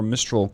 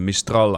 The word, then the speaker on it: Mistral: Short range, little bit more desperate is the 24 mistrol class. Sorry, the mistral I suppose as the French would pronounce it.